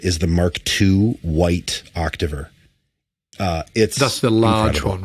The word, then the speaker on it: Octaver: It was like a bold choice, like a bold naming choice, because everybody's like, "How do you pronounce that?" It's like that's just Octaver.